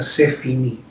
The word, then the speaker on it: c'est fini: Y él usó esa expresión francesa, c'est fini, escribiéndola en castellano S-E-F-I-N-I, acento en la última.